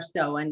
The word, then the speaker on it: Samhain: So this is the season of Samhain, which it's pronounced Samhain or Samhain, depending on whether you're Scottish or Irish.